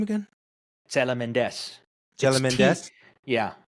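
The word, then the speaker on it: Τσελεμεντές: How do you pronounce his last name again? Tselementes Tselementes?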